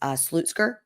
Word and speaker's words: Slutsker: life with Mandy uh her last name is slutzker but it's spelled slutsker oh no and so